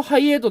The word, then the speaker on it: Hi8: こ角のね俺もねこれをハイエートって読むのとか知らなかった知らなかったっていう